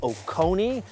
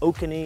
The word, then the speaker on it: Oconee: so as I said this is Lake okoni uh I was pronouncing it oky in the episode so uh my apologies